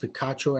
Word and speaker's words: Picacho: 2017 and 2018 at the picacho that's what i believe is pronounced picacho arizona army national guard